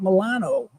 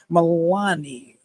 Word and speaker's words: Meloni: I love Prime Minister Giorgia Meloni. How do you say your name? Meloni. It's like baloney.